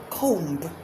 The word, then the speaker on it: comb: Have you been saying thumb, comb? The B's should be silent in them, all of them.